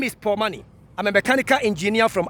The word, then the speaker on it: Pour Money: So the Paul Money, the name Paul is spelled P-O-U-R, capital P-O-U-R, pouring something. And the money here is M-O-N-E-Y, money. It means that you are pouring money.